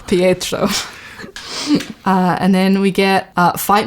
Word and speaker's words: Pietro: I'm sorry, my accent is warping his name. They say it like Pietro. Like, they really... Pietro. Pietro.